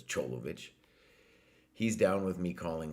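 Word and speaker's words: Čolović: Stunning because so we're we did a stream with uh Alexander Cholovich whose name if you were just to spell it in the Western world you would pronounce maybe Kolovich, but it's Cholovich.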